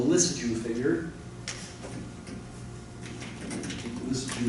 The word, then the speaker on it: Lissajous: Lissajous is spelled like this. Lissajous. Must be a French name there.